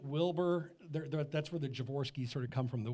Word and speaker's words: Javorsky: in the lincoln wilbur there that's where the javorski's sort of come from the wilbur creed lincoln air and you have pronounced the name correctly and folks he didn't